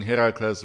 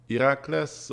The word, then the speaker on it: Herakles: It's funny because I'm trying to be a smartass here, but I'm pronouncing Herakles wrong because I think the Greeks say it like Herakles or something like that. And also, Hades was not a dude with weird blue flames for hair.